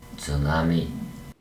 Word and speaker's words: 津波: A pronúncia correta de tsunami é 津波。